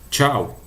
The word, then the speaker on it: chau: E perceba, a pronúncia do tchau é igualzinha a nossa, apesar de não ter o T. Lembre-se, lá o CH, pessoal, é sempre que tivesse um T antes. Então, tchau.